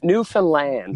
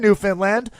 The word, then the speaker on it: Newfoundland: I love it so so new Finland new Newfoundland new Finland okay close it rhymes with understand IIIi I tried I